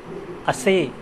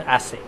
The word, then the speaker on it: assay: Last word of today's slide is assay and assay. You need to pronounce it differently. Assay is a verb.